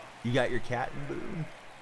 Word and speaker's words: Boone: You got your cat in Boone? It's the E is silent, right? It's not Booney, is it?